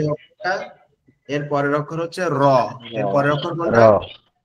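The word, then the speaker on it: راء: minute একটু কথা শুনেন র অক্ষরটা আমাদের জিউবার আগার উল্টা পিঠ জিউবার আগার এই যে জিহ্বাটা এর আগার উল্টা পিঠ জি এই উল্টা অংশটা উপরের যে তালু আছে অর্থাৎ এই যে আমাদের জিহ্বার সাইড নিচে উপরের যে অংশটা আছে এইখানে লাগি একটু কম্পন মতন মানে কেপে কেপে উচ্চারণ হবে র র র র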